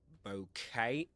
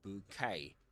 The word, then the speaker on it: bouquet: So you can say bouquet or bouquet.